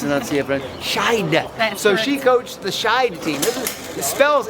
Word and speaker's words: Skeid: How do you pronounce it? Skid. How do you pronounce it? Sh. Sh. See, I told you I've never said I was the greatest annunci. So she coached the shide team.